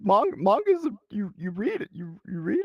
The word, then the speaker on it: manga: My wife, who speaks Japanese, says it is manga.